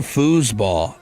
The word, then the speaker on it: foosball: It's spelled foosball. F O S. Yeah, it is an S. I've just always kind of said it with a Z.